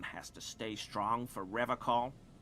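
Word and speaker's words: Revachol: I've been tempted on occasion, but someone has to stay strong for Revol. He pronounces Revol with a hard K.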